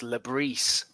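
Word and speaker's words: Le Bris: And then finally, is it Lebris or Lebris? How do we pronounce it? So I thought it was Lebris, but apparently it's Lebris.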